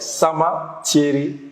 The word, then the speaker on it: Sama: the end so my name is pronounced like summer yeah so simple so I've actually mastered it.